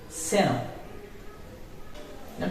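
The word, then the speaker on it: xenón: This letter name is X, but whenever you use this letter at the beginning of the word, it will be pronounced like so. Seno. Not seno, it will be senon. Genome, that means genome. It's a gas. Genome. It's senon.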